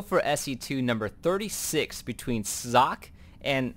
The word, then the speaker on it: Socke: zone agha caverns uh my pronunciation was a little bit off there it's actually I looked it up and while I've heard it pronounced sake I think I forgot who it was I think one of the big broadcasters HD husky or day night the actual pronunciation is Jacques so i will be using that from now on and braddock it